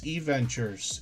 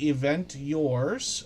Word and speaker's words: eVentures: Yes, eVentures is the pronunciation for what looks like Event Yours.